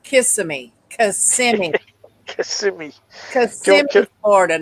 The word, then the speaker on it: Kissimmee: of her family yeah it's still pronounced Kissimmee she doesn't know how